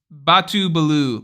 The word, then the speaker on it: Batu Balu: that's coming I also my nickname is pronounced Batu Balu LOL oh okay gotcha gotcha